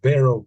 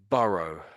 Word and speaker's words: burrow: And then the next barrow. Borrow. So, yeah. Burrow.